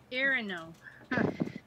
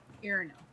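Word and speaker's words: Iarno: Irino. I-A-R-N-O. Irino. I know, I'm still learning the pronunciation right. Mm-hmm. So he'll say he's looking for Irino.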